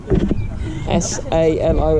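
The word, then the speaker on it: Salò: S-A-L-O it's spelled, but with a little accent. So it's Salo.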